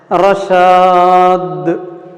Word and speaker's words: رشاد: پھر رشاد، آخر میں دال قلقلہ، تو تھوڑا متحرک کی طرح تلفظ کرنا، رشاد. اوکے.